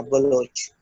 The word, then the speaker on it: Baloch: था official name में, तो उनकी डिमांड थी कि ये ओ से प्रोनाउंस होना चाहिए, यू से प्रोनाउंस नहीं होना चाहिए।